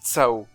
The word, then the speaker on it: Tsao: Ouais, alors, c'est écrit Sao, mais ça se prononce Tsao. J'ai été regarder en écoutant les versions japonaises de Cold Steel et de Kuro no Kiseki, et... Ouais, ça se prononce bien Tsao.